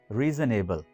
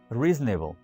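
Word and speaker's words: reasonable: बाज़ औक़ात इसको इस तरह से प्रोनाउंस किया जाता है, रीजनेबल। रीजनेबल यानी इसको दो वर्ड्स की तरह प्रोनाउंस किया जाता है, रीजन और एबल। ये गलत है, रीजनेबल। रीजनेबल इस तरह से इसको प्रोनाउंस कीजिए।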